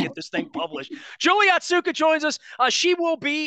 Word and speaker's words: Otsuka: My pronunciation probably is not great, but it's Otsuka is the correct Japanese pronunciation.